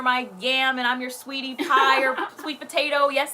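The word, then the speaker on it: Saweetie: you guys see that is her name sweetie it's how you pronounce it sweetie and quavo broke up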